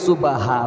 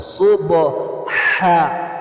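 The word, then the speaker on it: سبحان: দিয়ে আবারো পাঠ করছি অনেকে বলে সুবাহা ভুলটা বলে দিব কারণ ভুলটা বলে দিলে সহজ হয় আপনি আর এটা বলবেন না সুবাহা বললে কিন্তু হবে না সুবহ হা বলার মধ্যে চাপ দিবেন আইন এবং হা এটা হলকের মাঝখান থেকে মাখরাজ বের হওয়ার স্থান সুতরাং এই হলকের মাঝখানে চাপ দিবেন এরকমই সুবহানাকাল্লাহুম্মা ওয়াবিহামদিকা ওয়া তাবারাকাসমুকা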